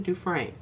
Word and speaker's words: Dufresne: And Mariah says, you say it like brain. Susan Dufresne.